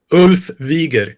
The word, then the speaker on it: Ulf Wiger: Today we have a very special guest, Ulf Wigger. Did I say that right? Pretty close, yeah. How do you say it? Ulf Wieger.